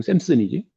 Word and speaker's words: Samson: 그러니까 영어식 이름은 샘슨이지. 그러니까 삼손 말 그대로 SAMSON이겠지. 그 삼손이라고 해석을 한 거고 샘슨으로 발음되지? 자화상이에요.